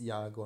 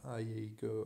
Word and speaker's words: Yago: Yeah, it's Yago, not Iago or anything like that.